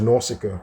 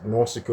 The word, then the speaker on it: Nausicaa: of the Phaeacians, was Nausicaa, right? Nausicaa, or pronounced Nausicaa, or Nausicaa, or Nausicaa.